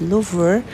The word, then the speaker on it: Louvre: today i'm going to loaf museum or some pronounce it as lover but for me i prefer to pronounce it as loof okay so welcome to